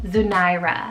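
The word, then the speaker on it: Zunairah: So first off, I have the name Zunaira, spelled Z-U-N-A-I-R-A-H, Zunaira.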